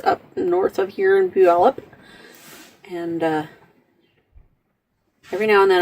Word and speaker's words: Puyallup: you'll understand why I'm laughing too out it's pronounced Puyallup anyway so much my brother's house had a